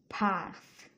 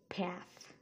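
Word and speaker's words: path: next word হচ্ছে পাথ পাথ এটা হচ্ছে ব্রিটিশ প্রোনাউন্সিয়েশন আমেরিকান হচ্ছে প্যাথ আমি সবগুলোই ব্রিটিশ প্রোনাউন্সিয়েশন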